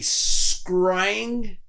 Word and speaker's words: scrying: a chance to look up something called a scrying mirror no it's a real thing well and